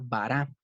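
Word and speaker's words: ברא: es una palabra en hebreo que vara se pronuncia vara y esa letra para palabra esa palabra vara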